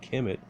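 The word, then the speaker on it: Kemet: interpretations of the original name Kim it conventionally pronounced Kim it used the ancient Egyptians to decide describe themselves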